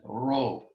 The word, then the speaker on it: rho: which is ro um it's not uh like a spanish but neither is it an english american r it's um an aspirated r uh hero we call it in greek a hard breathing it's this is not p it looks like an english p but it's an r sound rho rho written in english r h o row now next letter is